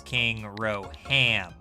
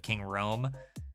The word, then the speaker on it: King Rome: my friends use is King Roham. I think I had misunderstood how to like pronounce his name. I thought it was King Roham instead of King Rome.